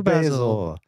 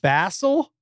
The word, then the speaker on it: Basil: It's B-A-S-I-L is Basil. They say his name Basil. His name is Basil. I don't think but it's they spelled. They just say it because that's their British accent.